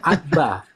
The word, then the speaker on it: Abba: Dan itu dibaca abba. Dibaca abba. A bba a.